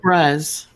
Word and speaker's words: Febreze: So the going thought now is that Febreze went from Febreeze, as in Feb breeze, spelled like we spell breeze, and one of the E's left the end of it. So it's not breeze anymore, it's Breze. Right?